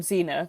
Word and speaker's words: Zener: The sock pattern is called Zenar, and that's spelled Zener, just to be clear if people are sort of trying to look it up on Rav.